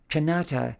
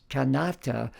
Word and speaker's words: Kanata: than a drum beat canata is gentler than Canada and more balanced with a second syllable stress canata rather than the first in English Canada or the third in French Canada this new sound can